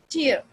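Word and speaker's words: tear: टीयर, okay, and टेयर. टीयर जो आपके आंसू हैं, टेयर यानी फाड़ना. अब यहाँ पे स्पेलिंग सेम है, word it looks like same but different meaning भी डिफरेंट है और प्रोनाउंसिएशन भी डिफरेंट है, मगर वर्ड सेम है, स्पेलिंग सेम है.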